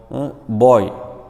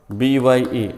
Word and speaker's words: bye: So here see you, good boy, boy means here see not boy, goodbye, boy. So goodbye, B-Y-E, not boy. Usually don't pronounce boy.